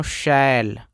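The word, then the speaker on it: shall: पहले बता रखा है अगर आपको डबल एल लास्ट में दिखाई देगा उससे पहले ए रहेगा तो यह वाला ए को आ पढ़ते हैं यानी इसको पढ़ते हैं दोस्तों शैल क्या पढ़ते हैं शैल एस एच से बड़ा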